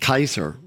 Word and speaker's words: Caesar: Remember, C in Latin, in formal Latin, is pronounced K. So it would have been pronounced Kaiser.